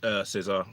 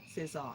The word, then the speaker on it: César: Shevja, can you do us the honors of pronouncing this award? César. César.